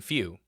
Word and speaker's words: feu: Few is spelled feu. F few.